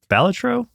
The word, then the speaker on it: Balatro: Balatro?